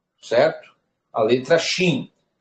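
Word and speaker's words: שׁ: No hebraico, nós temos uma consoante que leva este som, esta pronúncia, como um CH no português, que tem um som de chá. Que é justamente aqui, ó. Certo? A letra Shin.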